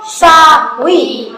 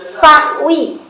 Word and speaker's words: سهو: ketinggalan apa doang sunah sujud syahwi bukan syahwi sahwi pakai Sa bukan pakai S Sun sunah walaupun hanya